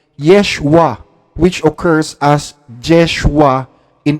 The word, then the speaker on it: Yeshua: ninyo sa wikang hebreo Yan po ay Yeshua hindi yoshua walaa pong yoshua imbento po